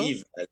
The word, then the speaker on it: Yves: Yves Allegro. Yves, Yves Yves Allegro. without the S, right? Exactly.